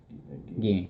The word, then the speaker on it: Gine: How do you pronounce that? Ging.